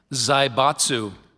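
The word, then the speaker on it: zaibatsu: Zybatsu.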